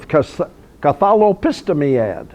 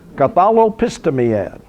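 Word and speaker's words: Catholepistemiad: The name of that institution was Cathalopistimiad. Okay, I worked for a month to learn how to pronounce that word. Cathalopistimiad.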